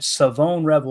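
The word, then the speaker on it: Shavon Revel: Savone Revel is how you say his name.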